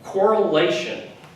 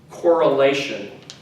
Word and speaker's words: correlation: next one correlation right again emphasis is on the syllable right before the tion anytime you see tion the emphasis is on the syllable right before that and the tion is pronounced shed so correlation correlation right correlation